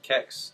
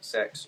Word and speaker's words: CeX: the most important question how do you actually pronounce cex is it sex there's three different ways it's kex sex or cx it's literally down to a customer's preference uh sex is the